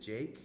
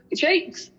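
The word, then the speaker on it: JVKE: I think his name, I don't know how to say it, it's like JVK. Is it Jake? It's Jake. It's Jake.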